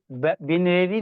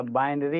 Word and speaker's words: binary: हाँ, बिनेरी नहीं होता, ठीक है ना, इसका प्रोनाउंसिएशन आप लोग सही से पढ़ो। बिनेरी नहीं होता, बाइनरी होता है।